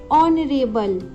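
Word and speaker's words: honourable: अगर हम देखें तो HO, इन सब में HO आ रहा है, जिसको हम प्रोनाउंस करते समय बोलते हैं ऑनरेबल, ऑनेस्ट, ऑनेस्टी, ओ।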